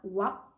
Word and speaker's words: は: se prononce avec la lettre ou le kilagana WA comme Wani crocodile mais s'écrit avec le kilagana ha par exemple Hana